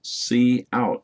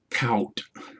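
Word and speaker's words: cout: a c plus program c out is pronounced as c out not count the scanf statement and the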